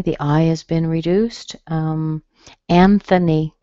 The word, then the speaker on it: Anthony: Anthony, same kind of thing.